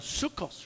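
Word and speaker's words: soukous: and four it's uh known as a sukkos rhythm s-o-u-k-o-u-s there's a band that was on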